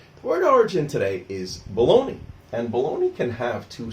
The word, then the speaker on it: Bologna: Now in Italian the correct pronunciation was probably closer to Bologna.